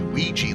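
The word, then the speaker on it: Wee Jas: We learned about the one that really shocked us was Ouija, and Leonard Lakofka says it's pronounced it's his deity Ouija, like the Ouija board.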